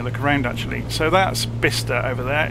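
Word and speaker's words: Bicester: worth having a look around actually so that's bista over there it's bisester it's spelled it's actually pronounced bista and that will be Banbury as we're approaching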